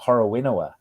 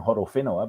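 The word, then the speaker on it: Horowhenua: he was a kid people would talk about horowenowa because they couldn't they didn't realize wh um you know was it was was uh a first sound and I grew up saying hodofinoa because um that's how I was taught but yeah you know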